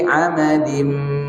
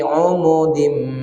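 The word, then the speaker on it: عمد: Nggak ada istilah, tapi cara membacanya boleh dengan dhammah. Nih biasanya kita jumpa kalau dhammah ya dhammah, fathah ya fathah. Nah, ada misalnya fi amadim mumaddadah. Di riwayat yang lain boleh dibaca fi umudim mumaddadah.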